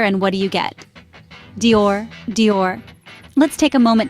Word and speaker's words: Dior: of that French pronunciation it's just one syllable not two let's break it down start with a D sound as indor now make it soft almost like J in Journey then we move on to the ior this might be a